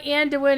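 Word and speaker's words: Anduin: the veils of andne it's only and towin if you're talking about the king of Stormwind in World of Warcraft damn it otherwise it's Ando least that's how was officially told to be pronounced uh to the voice actors by standing stillone games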